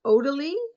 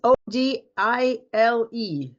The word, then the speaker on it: Odile: And is it pronounced Odalie, Charles? I haven't got a list. Let me have Oh, you a haven't look. got a list. It's Odile.